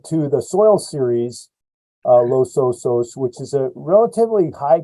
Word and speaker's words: Los Osos: it's the Los Osos we say Los Osos Los Osos okay in Spanish would trans you translate to the bears but in in our case we're referring to the soil series uh Los Osos which is a relatively